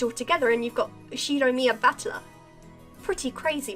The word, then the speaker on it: Ushiromiya: The first part is my family name, Ushiromiya. That's a fairly plausible Japanese pronunciation so far.